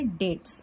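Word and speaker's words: debts: इसकी भी स्पेलिंग देखिए डी ई बी टी एस है बट हम इसको पढ़ेंगे डेट्स बी साइलेंट है बैड डेट्स यह नाम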